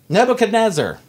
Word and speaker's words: Nebuchadnezzar: Daniel 3 says, King Nebuchadnezzar, did I pronounce that right, John?